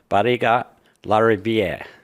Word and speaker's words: Barriga-Larriviere: And on today's episode, we have Claudia Bara Larier.